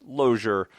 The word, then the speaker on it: Lozier: He also did one 2 years ago, I believe it was, for another Senate candidate, Carl Lozier, spelled like loser, but it's actually Lozier.